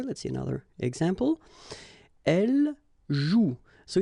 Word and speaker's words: joue: And it's exactly the same rule, so you've got this after, but then clearly you don't pronounce it. Okay, elle joue.